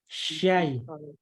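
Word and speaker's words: من الشيطان: Jadi bukan Syai. bukan sai. Syai. Tapi syai.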